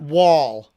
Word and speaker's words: Wuhl: Yeah, W Robert Wall.